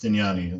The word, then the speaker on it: Stignani: For the record, this is pronounced Stignani, the Gian like lasagna.